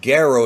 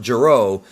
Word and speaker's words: Gero: You can find out more about Gero's backstory, including the fact that Gero is the right way to pronounce it, not Gero, in the Androids Explained video, which you should have already watched, and hopefully you did.